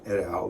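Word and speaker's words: et al: Stonehouse and his buddies Stonehouse at L that's the right way to say that that means Stonehouse in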